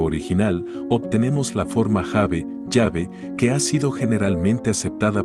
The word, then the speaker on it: Yahvé: Al insertar las vocales de Jahve en el texto consonántico hebreo original, obtenemos la forma Jahve, Yahvé, que ha sido generalmente aceptada por los eruditos modernos como la verdadera pronunciación del nombre divino.